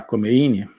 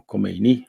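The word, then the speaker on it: Khomeini: comunista eh o ayatolá comein ou kini parece que a pronúncia persa é mais kini eh estava exilado volta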